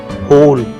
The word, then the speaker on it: whole: WHOLE होल, यहाँ W silent है.